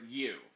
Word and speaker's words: Huu: in the swamp to use them to attack the guy's name is Hu or U it's pronounced U but it's spelled huu that's the guy's name